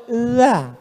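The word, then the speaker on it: ذ: Bahasa Arab itu ada huruf za, ada huruf ja, ada huruf d, ada huruf dza. Dza. Letakkan ujung lidah di atas gigi. Atas gigi atas. Dza.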